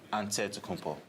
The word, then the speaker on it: Antetokounmpo: greek way you say with the nc like antetokounmpo seems easy enough right i guess so